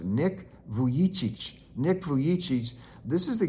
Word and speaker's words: Nick Vujicic: it's spelled a little differently, so but it's pronounced Nick Vujicic.